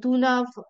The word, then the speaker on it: Dunav: what's the name of the insurance it's uh dunav insurance it's called dunav uran uran means insurance